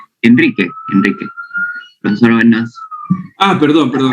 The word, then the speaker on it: Enrique: gracias bien alguna otra pregunta enri así se pronuncia tu nombre enri Enrique Enrique profesor Ah perdón perdón Enrique si no